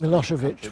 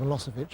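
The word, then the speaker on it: Milošević: Vladimir Putin as promised milosovich was one that gave people a lot of problems and came out of a lossovich about half the time the trial of the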